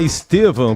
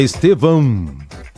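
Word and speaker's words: Estêvão: Dan nada porque é é Estevan com a o tio final a o tio e não a m né é Estevan Estevan é meio difícil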